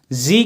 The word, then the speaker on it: gee: जी, या देख spelling GEE लिखा हुआ है, तो बहुत से लोग इसे गी पढ़ सकते हैं, बट शॉर्ट हैंड में इसका प्रोनाउंसिएशन जी के रूप में होता है, जे जी।